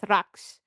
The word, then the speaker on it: Rox: So it almost sounded like rock like almost like there was a T or something and then I was surprised to find that there's no T. But yeah, it's Rox.